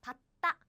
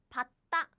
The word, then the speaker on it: 받다: So the pronunciation is like this. 받다. 받다 is the natural pronunciation.